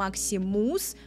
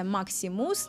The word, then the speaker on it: Maximus: обратите внимание на произношение по-русски мы говорим maximus такое у удав конце maximus на английском это максим с максом с через буг шва максим с хорошо он